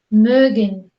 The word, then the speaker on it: mögen: Esto es como si fuera una E combinada con una O. Entonces hacemos lo mismo que esto. Sería pronunciar una E y dejamos la lengua en la posición en la que se pronuncia la E y ponemos los labios como si dijéramos una O, diciendo E, E. Entonces diríamos wir mögen.